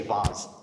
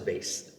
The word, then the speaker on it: vase: going to say yeah you and i say boss everyone else says vase ah so we have